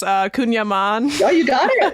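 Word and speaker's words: kouign-amann: style pastries croissants Tarts one I might even mispronounce uh kunyaman yeah you got it it's very good yeah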